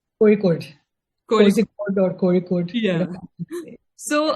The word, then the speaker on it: Kozhikode: How is it pronounced? Kozhikode.